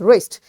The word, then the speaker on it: wrist: you know raised this wrist so this wrist again w is followed by r that's why we will say rest and this w is silent wrestling is a game